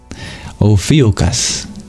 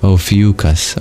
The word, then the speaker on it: Ophiuchus: Ophiuchus is the pronunciation. Gotcha. Thank you. I'm learning so much. Or Maggie gives an alternative. Ophiuchus. Well, I guess it's kind of the same, just different emphasis.